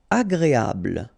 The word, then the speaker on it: agréable: Agréable. don't insist on the final E, bl, agréable, agréable.